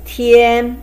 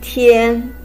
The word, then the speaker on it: 天: The left hand side one pronounced as tian, which is a combination of te and yan with the first tone. Te yan tian.